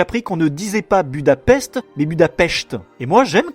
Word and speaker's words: Budapest: Mais bon, du coup, c'est juste que rétrospectivement dans Avengers, quand on parle de Budapest, Black Widow devrait plutôt dire Budapest puisqu'elle sait qu'on doit prononcer comme ça.